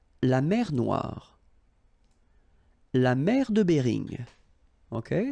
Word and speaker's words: Noire: Okay, then here, la mer Noire. Same thing here that we had previously. Final not pronounced, okay? And then OI, remember, wa wa wa, noir, noir. La mer Noire, okay?